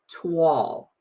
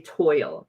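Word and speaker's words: toile: and it's called Autumn Twall. And I had to look that up because I want to always say toil. T. It's T O I L E. And I always want to say toil, but it's actually pronounced tw a l.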